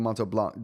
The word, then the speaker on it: Montblanc: I was wondering you your thoughts about the Montto Blanc. Don't pronounce the the T and C by the way.